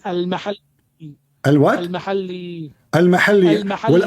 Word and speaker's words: al-Mahalli: It is not al-Muhalla. What it You is? don't understand. What it is? It is al-mahalli.